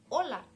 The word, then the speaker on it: hola: hola now in Spanish we have just one expression that is Ola Ola Ola as you can realize the intonation is on the first part in oh and not laugh we give experimentations in